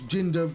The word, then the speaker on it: Jinder: the sign existing is because Jinder rhymes with hinder, and like some bright